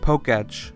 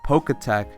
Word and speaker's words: Poketch: Something I also fear may not return is the Poketch, which I'm right now finding out it's pronounced Poketch, like Pokemon plus Watch? My whole life I've been calling it the Poketech.